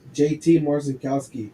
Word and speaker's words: JT Marcinkowski: I'm not even going to try to pronounce his name. Edgar, how do you say his name? JT Marcinkowski.